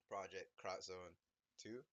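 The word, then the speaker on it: Project X Zone 2: But I finished ProjectXZone2. It's an X right there, but it's supposed to be cross. That's how it's pronounced.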